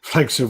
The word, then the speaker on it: Flankster: Flankster rhymes with Wankster.